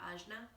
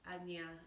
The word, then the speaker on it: Ajna: the west very frequently ajna from what i've understood from my indian and southeast asian teachers anya is a little bit more of the the culturally correct way to pronounce the third eye chakra so agnia is ruled